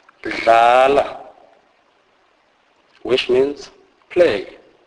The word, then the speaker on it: dlala: DL is pronounced as this is a fully voiced sound. It is a merging of the normal English D and L sound, e.g. dlala, dlala, which means play.